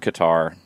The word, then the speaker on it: Qatar: the part problem here i've always heard qatar and then cutter started to become more commonly used but if if they want it to be cutter then it's cutter but i don't think